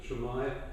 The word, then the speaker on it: Shamai: The book that Anne wrote is pronounced Shamai, and it's the Yupik Eskimo word for shalom.